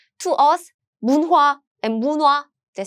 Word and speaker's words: 문화: So the pronunciation is 문화. This niun, the nasal sounds meets this. What happens is it becomes 문화.